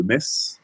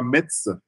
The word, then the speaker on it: Metz: je suis à mes donc pas Metz comme certains peuvent prononcer c'est bien mes donc j'ai fait l'erreur le premier jour quand je suis arrivé ici on m'a tout de suite repris avec Viger donc c'est mes donc on est donc messin